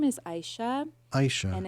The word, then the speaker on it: Aisyah: middle name now yeah my middle name is Aisha Aisha and it's spelled in like the Indonesian way um so